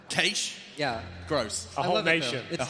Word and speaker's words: cache: You know, I thought people would mispronounce cash, but maybe not in that way. Cache?